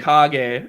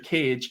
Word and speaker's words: Kage: name i said mr cage in the youtube video and he corrected me in like a dm and he's like it's actually kage like from naruto and i was like oh